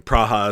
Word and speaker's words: Praha: excited to visit Prague praha is how they say it there in cck um we've got a